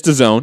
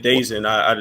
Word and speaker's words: DAZN: jump in that for a second so it's the zone it's topical that's how you pronounce it the zone yeah the zone okay I was saying Daisy like you know I guess it would be